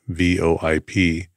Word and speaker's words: VoIP: unified Communication System pronunciation VoIP is variously pronounced as an initialism vo IP or as an acronym VoIP full words voice over